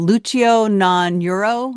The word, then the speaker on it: Luceo Non Uro: So, episode 7 is called "Lucio Non Euro". That's how you say it.